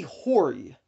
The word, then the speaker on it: Hori: a steal at that price so the company hoary that is spelled h o r i hoary the company